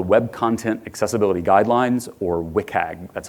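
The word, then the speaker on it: WCAG: what's called the web content accessibility guidelines or WIC hag that's how you pronounce the acronym for it it is a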